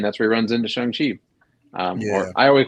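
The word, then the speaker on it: Shang-Chi: where he runs into Shang Chi or I always call him Shang Chi too now with the movie I always trying to pronounce it shun like they're telling us to um as far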